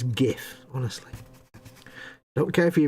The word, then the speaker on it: GIF: ladies gun who says lay's gun who says jiff ponce's say jif numpty's say jiff it's gif honestly don't care if you invented it you